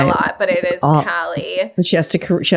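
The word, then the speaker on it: Kali: wanted everyone to know it's cali it's cali with a k not callie with this because i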